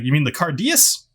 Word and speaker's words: Cairdeas: like you mean the cardius said yeah the karches uh cardius well actually it's pronounced carcass no it's cardius okay sure can i